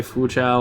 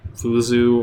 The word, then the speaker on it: Fuzhou: pronounce fools ooh yeah there's like three different ways you can say foo chow like the Chinese pronunciation but I I'd you a sort of essentially a westernized version which is like flu zoo or us how you